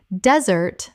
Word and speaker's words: desert: Desert versus dessert. Desert. Des-ert, noun, the dry landscape. Or desert, verb, to abandon. Dessert. Dessert, the sweet course after a meal.